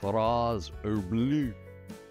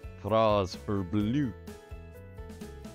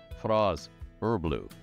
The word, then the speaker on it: Fraz-Urb'luu: Again, it's not easy to say, so you will hear variations. FRAZ-URB'LUU. FRAZ-URB'LUU. FRAZ-URB'LUU, because it's easier to jump on the closing syllable and give it some sort of emphasis. It makes it easier to say, but FRAZ-URB'LUU. So you got to move your tongue around. If you have a tongue, it's FRAZ-URB'LUU.